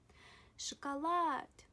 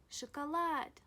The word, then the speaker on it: шоколад: The letter O, when unstressed, is pronounced A. Let me write this in green. When O isn't stressed, you pronounce it as A. For example, chocolate. Please listen. Послушайте. Шоколад.